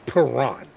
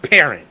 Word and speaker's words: Perrant: He's French, so you have to pronounce it Perrant. But I'm from St. Louis. We pronounce it Parent.